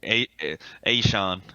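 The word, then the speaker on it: Achane: say his last name hey Sean hey Sean yeah Devon is Sean it kind of sounds like it Rhymes uh and then right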